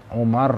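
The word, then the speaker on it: عمر: dan berkata umaru sahabat Umar radhiallahu anhu saat ini kata kamu gini ya Ini penting sekali untuk diketahui ya kalau kata Oma Rain rok-rok setelah rok gak ada wow ya itu bacanya Umar tapi kalau setelah Road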